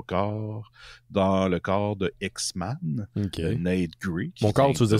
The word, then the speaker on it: X-Man: X-Men, je l'entends mais c'est parce que je sais que tu prononces le A parce que c'est X-Man au c'est X-Man au singulier. Pas men man.